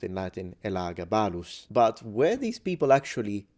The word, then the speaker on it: Elagabalus: It could be Nero, it could be Caligula, it could be Elagabalus, or as it's pronounced in Latin, Elagabalus.